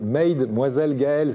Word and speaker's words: Mademoiselle Gaëlle: C'est Mademoiselle Gaëlle, c'est comme ça qu'il faut le prononcer.